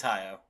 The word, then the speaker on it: Hayao: saying this wrong, Justin, because I trust your pronunciation better. Hyo Miyazaki. Is it Hyo? Yeah, it's Hyo.